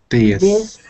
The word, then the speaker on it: this: me this this this so stick your tongue in between your teeth this this because it sounds like a lot of you are saying this or um this but you want to say it like this this this this this